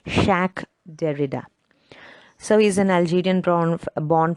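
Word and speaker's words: Jacques Derrida: don't get it wrong it's actually pronounced as a french name that's pronounced shaq derrida so he's an algerian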